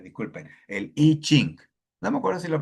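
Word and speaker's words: I Ching: No sé si más arriba pronuncié a ching, pronuncié la i como en inglés, disculpen. El iching.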